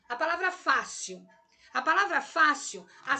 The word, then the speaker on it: fácil: Se a sílaba tônica da palavra fácil é a Fá, que é a penúltima, ela é uma palavra paroxítona.